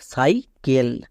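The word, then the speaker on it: cycle: হলো তাহলে কি দাঁড়ালো সাইকেল সি এর পরে ই আই ওয়াই থাকলে দন্তস এবার নেক্সট ক্লাস এখানে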